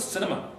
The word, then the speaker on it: cinema: What's the structure of the syllables in cinema? It's got 3 syllables. Every syllable is light. Cinema, right? So they're all short vowels, no coda consonants, so they all count as light. And notice in all of these words, America's like that as well, Canada, the stress falls on the 3rd syllable from the end.